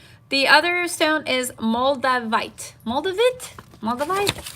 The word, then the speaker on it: moldavite: other stone is moldavite moldovit Maldives how do you say that I don't really am saying this right in French we would say moldavite that's French so I'd rather say